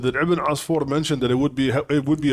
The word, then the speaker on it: ابن عصفور: Generally, his name is known as Ibn Asfur, but it sometimes can also be pronounced Usfur. But Asfur or Usfur, actually, it means a sparrow, or a little bird, kind of like a sparrow.